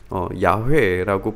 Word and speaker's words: 야훼: 오히려 이거를 야훼라고 부르는 것이 원래의 발음에 더 가깝지 않느냐.